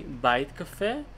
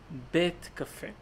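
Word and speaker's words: בית קפה: House Cafe coffee but you don't say bite Cafe you say bet Cafe and now you want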